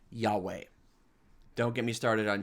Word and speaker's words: Yahweh: what they're talking about if they think god's name is jehovah it's a big grammatical mistake put that aside god's name is probably pronounced yahweh but it means in